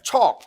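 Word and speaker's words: חוק: 그 다음에 세 번째, 척. 이걸 히브리어를 가만히 보세요. 척, 크 발음인데 이거는 법령, 명령.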